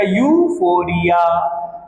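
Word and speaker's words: euphoria: हमने क्या बोला बेटा ई से नहीं बोलेंगे यूफोरिया नहीं बोलेंगे इसको क्या बोलेंगे इसकी प्रोनाउंस किया जाएगा बेटा इसका प्रोनंसिएशन जो होगी प्रोनंसिएशन होगी बेटा यूफोरिया strong feeling of happiness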